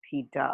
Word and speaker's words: theta: Okay, so you pronounce this as theta, okay?